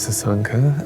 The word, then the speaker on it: Sasanka: My name is Sanka. Um, I'm from Sri Lanka and um, yes, it rhymes.